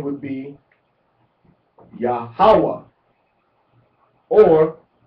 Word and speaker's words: Yahawah: Now, we can pronounce it three different ways. We can pronounce it with the accent on the second syllable, which is most common in Hebrew, or we can pronounce it on the third syllable, or we can pronounce it on the first syllable.